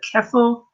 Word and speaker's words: Ceffyl: it correctly, but I think it's called the Keffel. I think it's pronounced Dur.